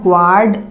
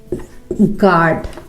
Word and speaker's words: guard: देख के पढ़ोगे तो इसे आप ग्वार्ड पढ़ोगे, विच इज रॉन्ग। ये लिखा हुआ है गार्ड। गार्ड, यहां पर भी यू साइलेंट है, इसे हम नहीं पढ़ेंगे।